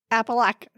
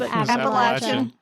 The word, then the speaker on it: Appalachia: I heard somebody from Pennsylvania pronounce it Appalackin. Appalackin. That's okay. What is that? It was wrong. It was wrong. But like, well, what the other is one was that? like Appalachian, which is closer. Yeah. And they were like, ask Google how to pronounce it. And it says Appalachian.